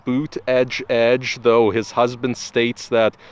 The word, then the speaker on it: Buttigieg: judge that is how you say his name boot edge edge though his husband states that Buddha judge is also acceptable I prefer Buddha judge in